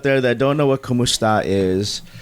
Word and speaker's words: kumusta: that don't know what kumusta is it's a greeting of basically saying hello but it is phonetically similar to Kom esta which goes back to